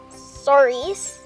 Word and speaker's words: Souris: I'm not sure how to pronounce it. Souris. That's the Souris River, or Mouse River, Billy.